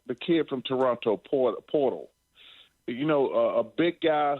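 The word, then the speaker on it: Poeltl: to pronounce this game it's portal or pole uh purle P there's no R but somehow there's an r in the pronunciation Chuck so it's not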